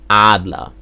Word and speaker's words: Adler: the community calls them Adler in German we pronounce him Adler so that's two syllables again a la Adler the